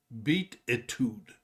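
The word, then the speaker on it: Beatitude: the time he list to this one this pronounced beat itude which beat attitudes the album picked number 28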